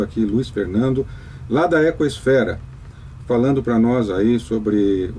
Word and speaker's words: Ecosfera: E você ouve aí no 95,7 FM, no 660 AM, nossa programação Desafios do Aquecimento Global, entrevistando aqui Luiz Fernando, lá da Ecosfera, falando para nós aí sobre os seus sonhos,